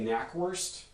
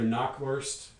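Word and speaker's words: Knackwurst: something like canoquest and a number of sounds in there are unpronounceable in english including this initial cano sequence so in general this is going to be repaired by english grammar and come out as either knock worst or nackwurst i'm not sure which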